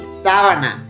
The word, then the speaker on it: sábana: Después, sábana. Entonces esta sería esdrújula porque tiene su sílaba tónica en la antepenúltima sílaba.